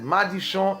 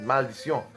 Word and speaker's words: Maldicion: Now, Maldicion, some people pronounce it as Maldicion in Creole, but the correct pronunciation is Maldicion, you know.